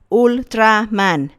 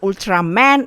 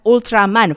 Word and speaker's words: Ultraman: And yeah, I pronounce it as Ultraman. I know it's probably pronounced Ultraman in English, but I'm already so used with Japanese pronunciation, so yeah, I will say it as Ultraman from now on.